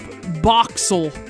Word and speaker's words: Boxzle: an X it's called boxel boxel unless I'm pronouncing it wrong that means it's a silent Z and no Z in